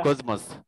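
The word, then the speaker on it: κόσμος: لا لو جه بعدها حرف الميه بنطقها زي بعدها ولا قبلها زي كوزموس بعدها كوز مس لو جه بعدها.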